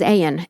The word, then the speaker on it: Ayan: His last name is Ayen, A-Y-A-N or Ayen.